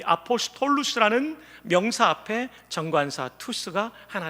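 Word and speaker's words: ἀποστόλους: 사도라는 단어는 대괄호 안에 제가 영어식 발음표를 써놨습니다. 한번 따라합시다. 투스, 아포스톨루스, 사도라는 단어입니다. 이 아포스톨루스라는 명사 앞에 정관사 투스가 하나 들어가 있습니다.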